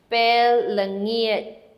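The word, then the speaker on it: ពេលល្ងាច: Evening officially is bell lengi. It's actually a J sound at the end. So your tongue should be making a J at the end. Bell lengiet.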